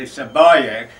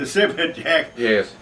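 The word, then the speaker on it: Sibajak: Was the, well now, I'm going to pronounce it the Sabayak, but it was known as the Sibberjack to most of the troops.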